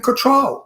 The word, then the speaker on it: Cattrall: so too I think her name is pronounced control yeah not control people say control but it's control okay Kim Cattrall anyway